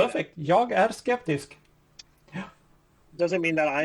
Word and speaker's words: Jag är skeptisk: Jag är skeptisk.